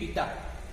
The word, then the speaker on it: eta: This proportionality constant is called where ईटा, इसका pronunciation क्या करेंगे, ETA ईटा, ठीक है, is called coefficient of viscosity, is called coefficient of viscosity.